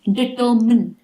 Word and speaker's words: determine: Determine. Determine. No mine, only min.